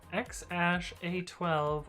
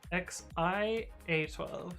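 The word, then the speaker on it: X Æ A-12: The one thing we know about Elon's child, it's either pronounced X-A12 or XI-A12, depending on the parent you listen to.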